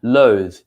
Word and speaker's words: loathe: with the e and a longer pronunciation so it's kind of like loathe okay means hate if